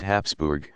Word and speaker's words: Habsburg: more than 600 years also spelled Hapsburg which is closer to the pronunciation Habsburg the name came from